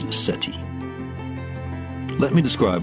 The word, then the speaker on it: SETI: This quest is called the Search for Extraterrestrial Intelligence, SETI, pronounced SETI.